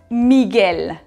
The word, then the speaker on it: Miguel: exemple dans le mot miguel miguel c'est comme en français quand nous avons eu à eux suivi a précédé danger ou ui précédé d'un géant espagnol il ne faut pas prononcer le eu c'est comme dans les